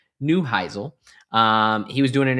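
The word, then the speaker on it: Neuheisel: Dallas Renegades coach, um Nusle Nuselheisle, uh that is not how you pronounce his name, Rick Newheisle.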